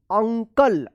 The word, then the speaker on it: uncle: UNCLE अंकल, अगर शुरू में यू रहता है तब भी जो है ना यू का अ उच्चारण होता है, जैसे अप, अप, अंकल।